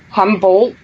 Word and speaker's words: Humboldt: Buffy Creek Valley and Humboldt California how do you say that from Humboldt yeah humble and that's not too